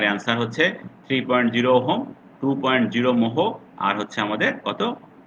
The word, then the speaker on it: mho: তাহলে এটা কত হলো, ট্রান্সকন্ডাক্টেন্স 2.0 ওহম কিন্তু নয়, এটা তোমরা ভালোভাবে খেয়াল করো, ওহমের উল্টা, মোহ, MHO, মোহ, যেভাবে উচ্চারণ করো।